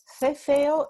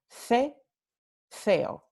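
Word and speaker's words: ceceo: So cefeo is pronounced with th here and th there. So cefeo, okay? Con el cefeo tenemos todo que se pronuncia con th, la interdental fricativa sorda.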